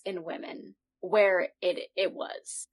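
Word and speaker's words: Womxn: Womex? Is that where we're going? No, it's still supposed to be pronounced women. It's still supposed to be pronounced women.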